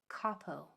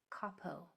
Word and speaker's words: capo: So we have K, A, P, O. Capo. Capo.